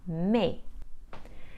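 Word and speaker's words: mais: give the sound e the S is usually silent when it is placed at the end of a word so the French for but is pronounced me the trema is here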